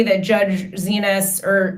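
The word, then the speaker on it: Xinis: I don't think that's not to say that Judge Zenis or Zenis, thank you, Roger, for this is the kind of breaking news you only get at Lawfare.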